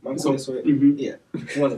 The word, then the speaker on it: Montez Sweat: Yeah, Marquez Sweat, for sure. I didn't say his name right? Montez Sweat.